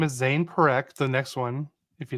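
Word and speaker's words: Zayne Parekh: His name is Zane Perek.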